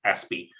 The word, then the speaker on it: ASPI: australian strategic policy institute aspie for sure some people call it aspi but it's pronounced aspy is australia's leading think